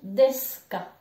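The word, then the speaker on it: です: précédente vidéo j'expliquais que les U à la fin on ne les prononce pas donc le U que tu vois là on ne le prononce pas on l'entend pas je dis desk ça sera pareil à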